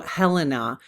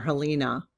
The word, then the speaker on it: Helena: So Helena, but I think by the time I got down to the the rest of that video, I was calling her Helina.